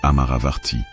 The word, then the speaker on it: Amaravarti: Pas Amaravati, la capitale moderne, non. Mais Amaravarti, avec un R, roulé comme dans une prière oubliée.